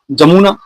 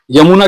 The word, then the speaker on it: यमुना: जमुना, यमुना कहलाता है, जमुना नहीं होता।